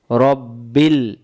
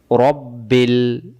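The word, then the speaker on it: رَبِّ: মিলবে লামের সাথে বিল রব্বিল অনেকে বলতে পারেন আলিফটা গেল কই আলিফ জবর জের পেশ কিছু নাই এজন্য এটা উচ্চারণ হচ্ছে না এটা এভাবেই থাকবে রব্বিল আমরা অনেকে বলি রাব্বিল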